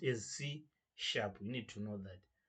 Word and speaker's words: C#: one is written C A has but it's pronounced as C Shar we need to know that it's pronounced as